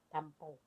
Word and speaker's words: tampo: Tampo. You say it differently. Tampo. Tempo. Yeah, see, tampo, like a tampon.